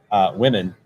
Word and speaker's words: women: I heard you say women, and I just realized that woman and women are pronounced differently at the beginning, even though the letters are the same. They both start with WOM.